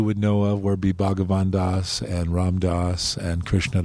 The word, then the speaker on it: Bhagavan Das: Is that how you pronounce it? Yes, Bhagavan Das.